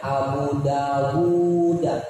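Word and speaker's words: أبو داود: Itu di situ bacanya Abu Dawud, panjang, seharusnya panjang. Cuman tulisannya tidak ada wawu yang kedua.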